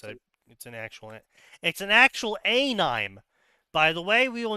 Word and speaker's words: anime: press release of Japanese anime coming to America, they had to include in the press release to tell the journalists to pronounce it anime and not animes, because the journalists kept saying anime.